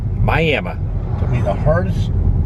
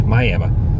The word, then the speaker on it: Miami: Pronounced Miami. Took me a long time to ever get used to that. How people say Miami? Miami. People from this neck of the woods, Miami.